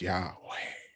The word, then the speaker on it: Yahweh: And so in the Hebrew, when you say God's name, it's like, when it's pronounced the right way, you're breathing out. It's Yahweh.